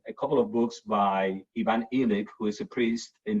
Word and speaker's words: Illich: Illich is I-L-L-I-C-H. Okay. He taught at it's Tillich without the T.